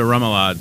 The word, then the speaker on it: remoulade: You can use like a traditional remoulade, which is a different mayonnaise-based sauce. Right. I just use an aioli that is flavored with fresh lemon and cracked black pepper and garlic. What would comprise a remoulade sauce?